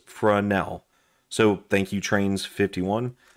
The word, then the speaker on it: Fresnel: DIY my carry toolkit it's a French word so it's not pronounced fresnel it's pronounced fresnel so thank you trains